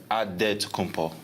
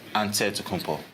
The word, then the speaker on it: Antetokounmpo: In a Nigerian way, you gotta say it with a D, so it's Antetokounmpo. But in the Greek way, you say with the NT, like Antetokounmpo.